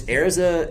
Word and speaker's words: Erza: i'm so used to like saying is it airza well it's ariza in the in the way that they pronounce it in japanese it's heirs up and